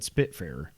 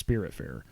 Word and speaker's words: Spiritfarer: I almost said Spitfarer, but it's Spiritfarer.